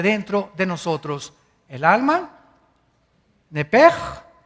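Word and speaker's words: נפש: es la palabra hebrea nepes así como suena n e p e s h nepes la palabra la letra o las letras sh en hebreo se pronuncian en hebreo como J Entonces se pronuncia nepe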